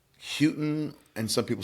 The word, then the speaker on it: Houghton: last Houghton? So some people say Houghton and some people say Houghton.